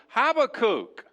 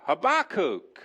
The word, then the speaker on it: Habakkuk: on an adventure in the book of have a cook or a bar cook or all of the other multitude of ways that you could pronounce it I like Habbakuk it is what it